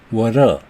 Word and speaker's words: water: 어떤 경우냐면 모음 사이에 T가 왔을 때 플랩 T가 됩니다. water죠. 원래 사전 발음으로 하면 water. 그런데 모음과 모음 사이에 T가 왔죠. 그래서 이걸 발음할 때 혀를 퍼덕거려서 water, water, water 이렇게 발음합니다.